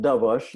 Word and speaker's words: Dobosz: So I pronounce it Dobosz. The SE is like an SH, but it's not one of those easy names to pronounce.